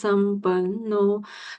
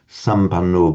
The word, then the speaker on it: sampanno: There's a double N there. Remember, where you get a doubled consonant, make sure you do pronounce it emphatically double. It's not sampanno, but sampanno. It must, and it actually makes the syllable heavy. If you were chanting in a group and you said incorrectly sampanno, the anno, it should be sampanno.